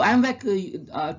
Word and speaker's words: IMViC: So I is just for easy for pronunciation. Just to make it proper pronunciation, we use this AMVAC test. We pronounce as a AMVAC test.